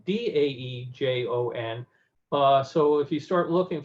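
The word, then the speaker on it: Daejeon: things, but it was Taejon. They recently have decided that that was the wrong anglicizing of the pronunciation, so it's now Daejon.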